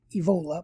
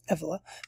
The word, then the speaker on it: Evola: named julius evela who i think most people pronounce his name wrong but anyway they say evola but it's effela pretty sure about that